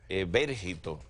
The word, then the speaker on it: Evérgito: Evérgito, acento en la E.